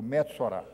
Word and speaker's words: Metsorá: Você vai decorar, diga comigo, Metsorá.